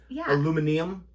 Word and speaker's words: aluminium: Right at the beginning, like the aluminum. I think a lot of people pronounce it aluminium, or it's actually like, not to be rude,